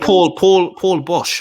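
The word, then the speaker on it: Paul Boesch: And Paul Bosch, I think I've. Yeah. Paul Bosch. I pronounced that right. Yeah, Paul Bosch.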